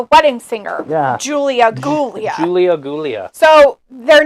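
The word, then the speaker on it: Giulia: it's actually pronounced a Julia but with a G oh I'm so sorry so basically their name is gulia isn't that like in uh The Wedding Singer Julia gulia Julia gulia so their name is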